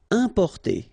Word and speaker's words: importer: Importer, okay, I-M, then a consonant, so it's the nasal importer, importer.